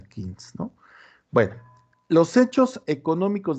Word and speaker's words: Keynes: Los que hablamos español le decimos Keynes, pero se pronuncia Keynes, ¿no?